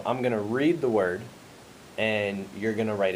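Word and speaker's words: -ward: And I know it's spelled W-A-R-D, but it's pronounced word. Could you say word?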